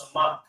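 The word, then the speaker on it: סמך: So, it's pronounced, support is pronounced samak.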